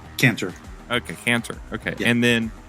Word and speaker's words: Cantor: hello how do you say your last name caner okay caner okay and then the organization uh